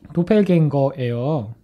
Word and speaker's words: Doppelgänger: 자, 이게 도플갱어가 그 말은 도펠갱거예요.